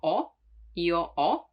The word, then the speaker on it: ho: Now, the H is always mute in Italian, so you don't pronounce it, like in hotel, or as you know, io ho, the verb to have.